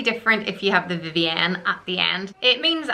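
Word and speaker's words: Vivienne: any at the end you pronounce it more Vivian and I personally just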